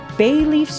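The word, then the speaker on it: ベイリーフ: Bayleaf's Japanese name is also the same as its English one.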